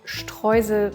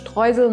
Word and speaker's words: Streusel: Let me show you how to make a cherry streusel cake. This is how we pronounce it in German. It's Streusel, not Streusel or whatsoever.